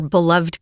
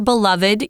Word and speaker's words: beloved: I'm sure she was really happy to see someone she knows, her beloved grandparents, or beloved, you could say, or pronounce that either way, beloved or beloved.